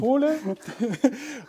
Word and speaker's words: Pole: Und Torben war tatsächlich bei Pole, das klingt immer so wie der polnische Bürger. Tatsächlich genau so wird es ausgesprochen. Pole.